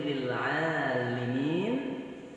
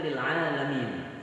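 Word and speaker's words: لِلْعَالِمِينَ: Pada ayat yang berbunyi lil alimin, ya, sering orang membacanya lil alamin karena sudah terbiasa alamin.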